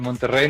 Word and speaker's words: Monterrey: one to write about Monterrey no value in Mexico that's how you pronounce the double R's in the name but can you tell